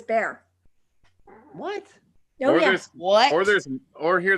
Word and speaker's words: Bexar: I'm saying yes exactly b x a r is bear that's Monte Monte right